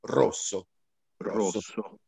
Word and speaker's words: rosso: io faccio memoria così il rosso quindi è chiuso rosso rosso per ogni comunque per